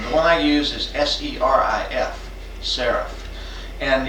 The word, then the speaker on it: serif: But it's pronounced the same way as the word S-E-R-A-P-H, so I hope they both sort of echo together.